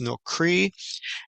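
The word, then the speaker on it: נכרי: word in Hebrew is comes from the root word nun kaf resh with a yod at the end, pronounced nokri, and it's a foreigner, an alien.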